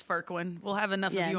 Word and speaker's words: Fourqurean: It's going to look like Forquin. It's Furquin.